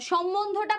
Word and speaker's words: সম্বন্ধ: আচ্ছা, সম্বন্ধটা বুঝাই দিব, সম্বন্ধর উচ্চারণটা একটু দেখেন, সম্বন্ধটা বুঝাই দিব, তার মানে সম্বন্ধের একটু উচ্চারণটা দেখেন। সম্বন্ধের উচ্চারণ যে সম বন ধো, সম্বন্ধ, সম্বন্ধ, এভাবে হচ্ছে এটার উচ্চারণ।